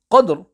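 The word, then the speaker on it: قدر: 2 and the word Qadr, there is a qalqalah letter which is dal, hence in verses 1 and 2, the qalqalah will join to the ra, whereas in verse number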